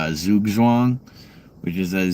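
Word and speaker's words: Zugzwang: Um, and that's a zoo zwang. Uh, it's a chess term. I've wanted to make a project called that for a while, but everyone would pronounce it Zugwang, and I don't feel like dealing with that.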